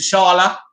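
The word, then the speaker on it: T'Challa: play black panther uh you know to carla or to sharla that's how you say his name right but i think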